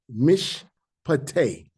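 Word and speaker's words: משפט: So you take the first letter which represent a m and you have mish. Me cuz they joining this two together. Me and you pick a new syllable right here. Pate. Mishate. Okay.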